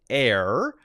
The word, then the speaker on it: heir: is and is the longest serving heir pronounced without the h in british history he